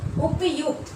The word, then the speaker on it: उपयुक्त: यहाँ बोलना है उपयुक्त, उपयुक्त। यहाँ कोई रेफ नहीं है, ये रेफ जो ऊपर में है इसका मतलब र का उच्चारण होता है, और यहाँ हो जाएगा उपरयुक्त।